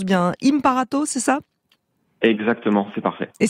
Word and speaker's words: Imparato: alors elle s'appelle du toit si je le prononce bien hymne par atos ça exactement fait parfait et ça veut dire